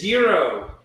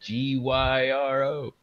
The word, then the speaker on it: gyro: isn't that goat meat that gyro is hero gyro there you go